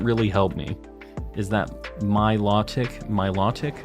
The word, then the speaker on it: Milotic: help me is that my law tick my law tick I'm assuming that's how you say that law yeah low or law is basically the the difference